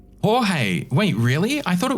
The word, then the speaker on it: Jorge: George is pronounced Jorge.